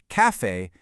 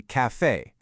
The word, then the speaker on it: café: Plus, that accent is essentially a massive neon sign telling you where the stress goes. It lands heavily on that second syllable, giving it a real punchy finish. You don't say café, you say café. Hitting that second syllable is what actually makes it sound authentic.